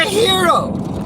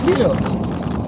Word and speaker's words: gyro: a d it's a hero the g is silent it's a hero okay what's a hero